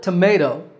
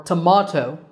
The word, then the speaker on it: tomato: In the word tomato, American, or tomato, British, the second syllable is the one that's stressed, ma.